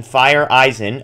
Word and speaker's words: Feyereisen: acquiring relief pitcher JP fire Eisen and I've had to practice my pronunciation fire Eisen according to MLB uh excuse me baseball reference but JP fire Eisen